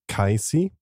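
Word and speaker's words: Cayce: Mike also highlighted that the sleeping prophet name is probably pronounced kisy good catch Mike thank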